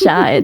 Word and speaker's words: Chey: Yes, C H E Y is pronounced Shai, short for Cheyenne.